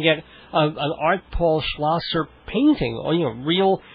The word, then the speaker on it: Schlosser: name I mean if you read it it's the Sha first and the S so it's technically it's schlasser but you've pronounced it